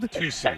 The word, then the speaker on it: tusi: Tusi. Tusi. Tusi is what the real name is, like what they say, but on the streets people call it Tusi.